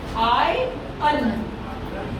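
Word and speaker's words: iron: आयरन, ए आई श्वा एन, ये है आपका आई, मतलब ये ए है जैसा भी दिख रहा है आपको, ये है आई अन, आई आई अन, ये है इसका उच्चारण, आयरन, नॉट आयरन, है ना।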